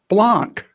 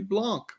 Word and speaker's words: Blanc: yeah yeah i mean for me it's spelt blanc yeah yeah it's like a fine wine i'm thinking well that